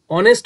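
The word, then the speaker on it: honest: হি ইজ অ্যান অনেস্ট ম্যান, দেখো অনেস্ট, অনেস্ট উচ্চারণ করতে প্রথমে আসে অ, স্বর অ, তার মানে এখানে হবে অ্যান, হি ইজ অ্যান অনেস্ট ম্যান।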